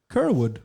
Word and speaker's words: Kyrwood: And the amazingly handsome actor, singer, Mr. Dean Kyrwood. Yes. Is that how you pronounce it? Pronounced it right.